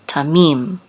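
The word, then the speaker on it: תָּמִים: accent mark right here it's a man ha so it's Tamim accents on the less of Tamim it's a perfect complete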